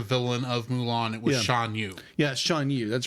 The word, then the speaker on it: Shan Yu: I had the name wrong for the villain of Mulan. It was Shan Yu.